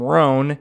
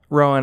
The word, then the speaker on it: Rowan: I said, "Hey, uh Rowan, I'll I'll tell her the next time that she's been saying your name wrong." She goes, he goes, "Actually, she's the only one that says it right."